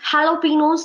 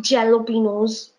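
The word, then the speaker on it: jalapeños: with us it is jalapenos it is not jello Pinos jay is not there okay work on your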